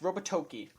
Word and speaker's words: Robotoki: I mean, speaking of reasons to be cynical, Robotoki, I want to say that's how it's pronounced. Robotoki.